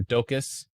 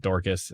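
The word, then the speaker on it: Dokis: Near Docus, not Dorcas. I'm sorry, I pronounced it wrong earlier. I don't know where I got an R from, but I said Dorcas. It's not Dorcas, it's Docus.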